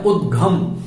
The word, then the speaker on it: उद्घम: कई लोग इसका गलत उच्चारण करते हैं और आनंदो निर्दहत्युद्धम, उद्धम बोलते हैं। उद्धम नहीं बोलना है, उद्घम।